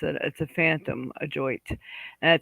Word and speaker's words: ajoite: I'm telling you, this adjoit comes up more often than not.